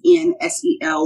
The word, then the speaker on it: Nselaa: Reach me on social media, Instagram, Nselaa. My name is spelled a little differently. It's Nselaa. The N is silent.